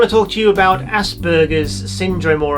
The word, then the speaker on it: Asperger: was a german so i simply pronounce it the way he would have pronounced it which is with a hard g asperger as opposed to